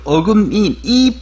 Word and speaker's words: 어금니: 하루에도 12번 하루에도 12번이라는 뜻은 매우 자주 어금니를 어금니 이인데 요 발음이 니로 되죠.